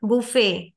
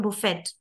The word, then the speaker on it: buffet: is coming okay and in French word final T is silent all the French words the final T is silent but a final silent E makes sound so T in uh French words like how will you pronounce this word sorry how will you pronounce this word ballot no it's ballet ballet okay buffet and not bouffet okay so T will be silent but interesting thing is